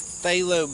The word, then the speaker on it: phthalo: level demos this is phthalo blue and it's spelled PTH alo se lo but the P is silent so this is a